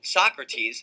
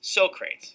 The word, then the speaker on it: Socrates: during rehearsals on set Michael kept pronouncing the name the philosopher Socrates Sokrates when Quincy corrected him Michaels eyes went wide